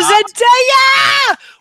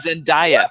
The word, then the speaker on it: Zendaya: I also, via Spider-Man, learned that the proper pronunciation of one of Harper's new fabulous like Disney crushes is Zendaya. Oh, Zendaya! Not Zendaya, which is how I heard it a lot in the wrongness of the name.